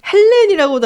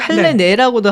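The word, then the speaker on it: Helene: 헬렌이라고도 하고 헬레네라고도 하긴 하더라고요. 이제 네. 어느 쪽 발음을 차용을 하느냐에 따라 다른 것 같은데 그래서 크렐러 밀러 할 때 그 위에 오물라우트 막 이렇게 붙고 막 크렐러 밀러겠죠.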